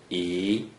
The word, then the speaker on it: 一: According to the rule that you just learned, a single digit 1 without any other digits in the first green circle is pronounced E.